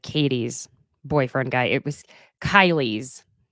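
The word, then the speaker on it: Kaili: boyfriend guy it was Kylie's I believe that's how you pronounce it because it's k a i l i I meant to say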